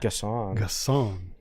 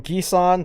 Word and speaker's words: Gasson: All right, last one in terms of newcomers, and here's the correct pronunciation: David Gasson. Gasson. I've gone from Gisan to Gesson to Gasson.